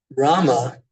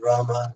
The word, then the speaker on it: राम: और उनका जप when I started chanting Rama instead of just Ram.